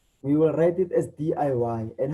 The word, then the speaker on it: DIY: and you realize that each and every one of those letters we will be pronouncing it separately by saying d.i.y so